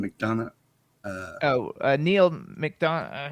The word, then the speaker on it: McDonough: uh how do you say his last name mcdonough uh oh uh neil mcdonough hang on i